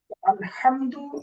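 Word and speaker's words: الحمد: কি প্রশংসা প্রশংসা আলহামদু এই জায়গায় হা বড় হা রয়েছে যদি কোন ব্যক্তি বড় হা এবং ছোট হা এর মাঝে তারতম্য না করে উভয়টাকে স্বাভাবিক ছোট হা এর মত উচ্চারণ করে সো অর্থের মধ্যে বিকৃত হবে যেমন এখানে আলহামদু অর্থ সকল প্রশংসা লিল্লাহি আল্লাহ তাআলার জন্য কিন্তু ছোট হা দিয়ে আলহামদু আলহামদু দিয়ে এর অর্থ হলো কাপড় অর্থ কিউ তাহলে বাংলায়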